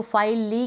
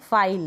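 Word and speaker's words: file: तो फाइल ली क्यों नहीं बोलते?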